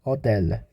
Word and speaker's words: hôtel: Also, we have exceptions for like Q, C, L. It's L, R, and F. Well, these letters, in the end, it does pronounce. Like for Q, we have cinq. This means 5. And for C, we have avec. It's with in English. And L, for L, we have like we have hôtel.